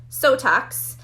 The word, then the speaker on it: Sotox: But so we have Sotox. Again, I say it rhymes with Botox for a reason.